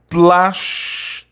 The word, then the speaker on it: plástico: Orgânico, plástico, né? E a sílaba tônica de orgânico e plástico é a antepenúltima.